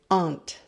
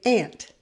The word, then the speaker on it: aunt: to pronounce this word in british english they say aunt but in the states we say ant and yes there is